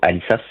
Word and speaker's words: Alisas: cette ascension du Puerto Alisas. Je vais prononcer le S sinon je vais avoir l'impression de parler de ma sœur.